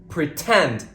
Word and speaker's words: pretend: 20% whatever it is the true t- sound is all also used when the stress syllable of a word starts with the letter T for example pretend the stress syllable starts with t tend some more examples until